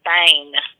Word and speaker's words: Boehm: They would pronounce it like that, and I'm like, no, it's Bane, like Bane.